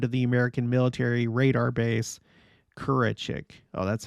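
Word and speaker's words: Kürecik: In Malatya, the Turks surrounded and stormed the American military radar base, Kurachik. Oh, that's how it's pronounced. Kurachik.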